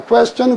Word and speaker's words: question: quantity 그러거나 question 그러거나 항상 QU는 붙어 다니게 돼 있어요. 그리고 그 U자는 붙여 다닐 적에 U자는 자기 발음을 내는 게 아니라 요 발음을 빌려줬어요. question을 되게 W 발음 나거든요.